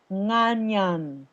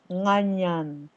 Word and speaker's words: nganyan: This one's pronounced nganyan, like onion, nganyan. Say onion. Onion. Now put a in front of that.